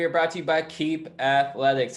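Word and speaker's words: Keap: brought to you by keep athletics that's spelled k-e-a-p keep k-e-a-p stoker's phone these days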